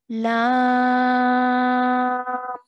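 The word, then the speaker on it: لام: So what that means is we're still going to pronounce it as lam, but we're going to stretch that for 4 to 6 counts. So we're going to say lam.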